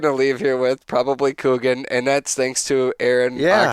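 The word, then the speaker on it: Kuchen: That I don't I It's Kugan. C Oh my god. It's Kugan. That's what it's pronounced.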